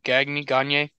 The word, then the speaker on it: Gagne: Can I give you some correct pronunciation? Oh, no, it is signed. Eric Gagne. Gagne, the Atabay.